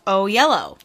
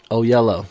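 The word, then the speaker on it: Oyelowo: it down um oh actually it says pronounced o yellow o yellow yes sorry about that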